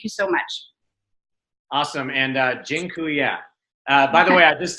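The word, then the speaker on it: dziękuję: so much awesome and Jin Kuya by the way I just taught you all the a polish word for thank you it's Jin ku yeah that I'm not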